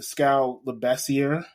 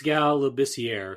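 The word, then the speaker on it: Scal Labissière: Um Lucas might know his name better than Scal Leasier. Did I say it right? It's Scal Labier.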